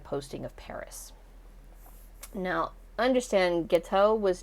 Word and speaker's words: Guiteau: Enter, at this point, Charles Guiteau. Guiteau. It's pronounced Guiteau.